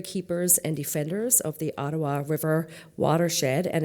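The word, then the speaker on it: Odawa: Ottawa is actually spelt exactly how it sounds, O-D-A-W-A. We recognize the Algonquins as the customary keepers and defenders of the Ottawa River watershed and its tributaries.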